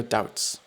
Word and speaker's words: doubts: is look past your doubts I think it's actually a silent B I think it's doubts